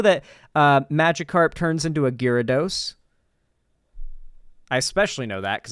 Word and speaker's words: Gyarados: But yeah, anyway, getting that out of, it's pronounced Gyarados.